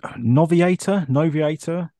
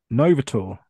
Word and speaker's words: Novator: So the Noviator, the guy, the sergeant. Novator. Yeah, let's go with the correct pronunciation.